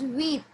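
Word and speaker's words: huit: P is silent over here. It's set. 7 is set. Yes. 8 is wheat.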